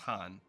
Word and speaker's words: Khan: So I'm going to assume that this word's pronounced Hatun because we heard somebody say Khan earlier and it was pronounced Han.